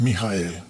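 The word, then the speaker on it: מיכאל: Si vamos al hebreo y luego pronunciamos en nuestro idioma es Mijael, que cuando los creyentes oyen Mijael, uy, cuánto hebreo sabe.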